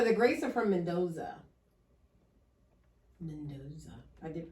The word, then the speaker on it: Mendoza: Mendoza. I did pronounce that right.